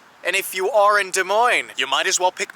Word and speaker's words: Des Moines: not especially here in De Moine capital of the Hawkeye State whatever you do though don't call it desus that is not how it's pronounced de Mo capital of Iowa what